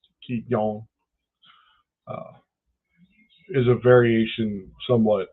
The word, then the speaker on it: Qigong: So Qigong, which is spelled Qigong, it's either Guigong or Qi, Qi, Qigong, uh, is a variation somewhat of uh, Tai Chi.